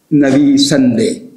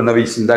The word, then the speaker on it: نویسندے: وہ ہے نویسندے. ہم اسے اپنے لہجے میں کہیں گے تو نویسندہ کہیں گے، لیکن ایرانی لہجے میں ہم کہیں گے تو نویسندے.